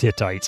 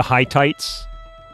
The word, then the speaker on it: Hittites: so they're trading knowledge I know it's pronounced Hittites I just couldn't help myself the 10-year-old in me just kind of went the high tights the highend tights this area can produce